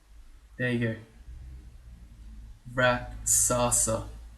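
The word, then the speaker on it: Rakshasa: and the way that you say it is reasa there you go rasa all right so that's apparently the correct pronunciation and he's uh copying all these dudes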